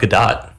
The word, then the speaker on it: Godot: supposed to be pronounced it's definitely go dot go go Dot yeah what about Gadot no this is so curious